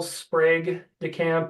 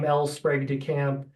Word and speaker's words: Sprague de Camp: guess I'll note is I've heard people say El sprag de camp and El sprog de camp and it's it was hard to find anything but I did find an interview and he pronounced his name elpr de camp and it was kind